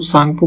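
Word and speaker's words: Tsangpo: Of flow है, इसमें इसको तसांग मतलब सांगपो कह लीजिए, टी साइलेंट होता है, ठीक है, तो ये इसका नाम है, विकल्प सी को चुनेंगे।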